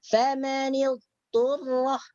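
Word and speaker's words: فمن اضطر: Jadi cara membacanya famanil turrah, disambungkan. Okey. Macam itu. Bukan berhenti atau kita ambil jeda atau ambil masa sedikit, bukan, tidak. Teruskan. Famanil turrah macam itu.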